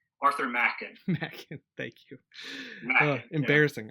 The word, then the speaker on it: Machen: It's Arthur Machen.